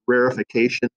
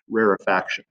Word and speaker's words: rarefaction: first followed by rarefaction it's sometimes pronounced rarefication but really the proper pronunciation for this phenomenon is rarefaction okay now gotta clear